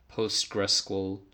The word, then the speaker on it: PostgreSQL: That could be MySQL, PostgreSQL, that's how you say it, any database system.